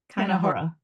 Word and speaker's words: keinehora: Wait, so but then Um, wouldn't it be Kainahara instead of Kanahara? Kinahora.